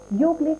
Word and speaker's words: योग: तर वास्तवमा चाहिँ हामीले योगा होइन, योग भन्नु आवश्यक छ र योग भन्नुपर्छ। शुद्ध रूपमा भन्दाखेरि चाहिँ यसको उच्चारण योग नै भन्नुपर्छ।